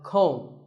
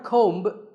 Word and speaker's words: comb: This is a comb. Not a comb, a comb.